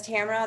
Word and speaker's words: Tamara: did i say have i been saying your name wrong this whole time nope you're it my mom says tamara that's fine george okay all right okay i'm